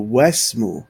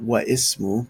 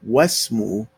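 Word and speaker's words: واسمُ: So the wa already has a fatha on top. It's just not shown. So wasmu, not wa ismu, but wasmu binti Zainabun.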